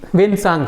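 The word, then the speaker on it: Hiuen Tsang: तो यहाँ टी भी साइलेंट है, एच में डब्ल्यू आ जा रहा है, पता नहीं कैसा कैसा नाम इन लोगों का।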